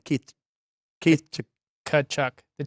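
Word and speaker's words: Tkachuk: the name Keith Keith kachuck the t is don't pronounce the T okay thank you Matthew kachuck h and then I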